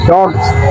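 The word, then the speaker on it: dogs: উচ্চারণ কি ডগস হবে? নো। উচ্চারণটা হবে ডগজ।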